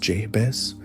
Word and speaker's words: Jebe: Genghis Khan ordered the most audacious military pursuits in history, dispatching Subutai and Jebe, pronounced Jebes, with a contingent of 20,000 elite cavalry on a massive, relentless search and destroy mission.